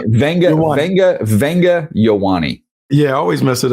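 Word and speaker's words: Ioane: Yeah, so Yowani. Venga Venga Venga Yowani.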